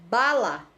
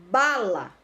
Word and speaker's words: bala: temos Aí o exemplo da palavra bala bala Olha como o bar sai com mais intensidade é a sílaba tônica então ela vai ser paroxítona tá porque é a penúltima sílaba Tainá e aqui ó